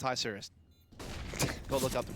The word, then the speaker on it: Isurus: It's Isurus. Go look up the pronunciation.